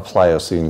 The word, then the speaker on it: Pliocene: us from entering a Pliocene climate for example it's only three syllables Pliocene is the climate we had